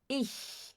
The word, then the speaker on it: ich: A gente não fala ich, a gente fala ih. Ih. Ó, não tem chiado. Então, para você fazer este som, você precisa colocar a língua atrás dos dentes inferiores e assoprar, né? Ih, ih.